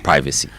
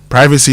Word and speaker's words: privacy: the UK good so if you want to say it right you know it's privacy yeah you've